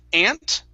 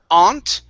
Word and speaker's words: aunt: okay instead of ow it's there's two ways there's ant okay yep just like the bug that crawls on the ground okay or you can say and okay so those are the two ways aunt or aunt but we cannot pronounce the you it wouldn't be it's ant or ant okay okay all right